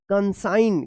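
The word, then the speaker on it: consign: सी ओ एन एस आई जी एन कंसाइन क्या पढ़ेंगे? कंसाइन पढ़ा जाएगा। तो इस तरह से जो है आप एन से पहले अगर जी आता है तो जी का उच्चारण नहीं होगा यानी साइलेंट होगा। तो आइए इसको हम लोग दोबारा रिपीट करते हैं।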